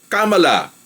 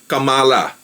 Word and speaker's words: Kamala: na si cala haris so ang tamang way ng pag bigkas ng kanyang pangalan is yung accent nandoon sa third syllable kamala parang Hillary hindi yung cala eventually malalaman na rin